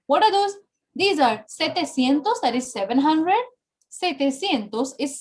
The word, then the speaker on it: setecientos: We don't say sietecientos, it's setecientos. Are you understanding? You can write it down. Setecientos, not sietecientos. And novecientos, not nuevecientos.